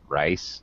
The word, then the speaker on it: rice: me too okay okay be careful about pronouncing rice make sure you pronounce the s rice and fish okay okay